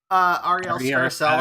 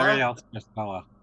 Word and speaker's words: Ariel Scarcella: How do you pronounce her name? Ariel Scarcella. Ariel Scarcella.